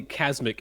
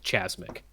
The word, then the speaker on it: Casmic: This isn't the video I was talking about, but I found hence why Casmic is the correct pronunciation and not Chasmic.